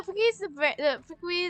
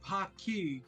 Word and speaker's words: Paqui: It's a Spanish name. It's Paqui. Q-U in Spanish is spelled with Hey, a check K.